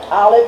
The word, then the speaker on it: Aleph: I really should be going this way, but Aleph is silent.